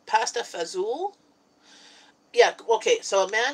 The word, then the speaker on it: pasta fagioli: though I'm just reading a pasta fagioli its pasta fazool yeah okay so a man different from fundamental